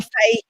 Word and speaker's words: Fahey: speak here in m3 this morning um liam fey it's pronounced just been told so liam's come all